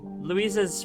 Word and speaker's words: Louis: Yeah, Louise is a boy. No, Yuri, I know. I figured. I guess I'm saying Louise wrong. It's Louis? It's Louis. I'm saying it wrong. My bad. It's Louis. He's a boy.